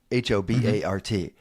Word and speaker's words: Hobart: But this town is spelled Hobart. H O B A R T. Mhm. And right when you got there, as soon as somebody said that, no, you're not local. It's Hobart.